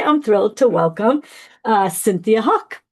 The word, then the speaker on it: Hauk: So today I'm thrilled to welcome Cynthia Hauk. Like, how do you say your last name? Like the hawk, right?